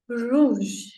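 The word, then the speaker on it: rouge: is read that is रूज रूज okay उज रूज ऐसा सो आर का साउंड बहुत छूटू सा कम सा आता है फ्रेंच लैंग्वेज में आर बहुत ही स्पेशल तरीके से य यूज हुआ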